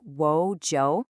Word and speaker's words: 我叫: Okay, the key phrase you're going to need is 我叫. It's pronounced kind of like wo jiao. Try saying just that part. 我叫.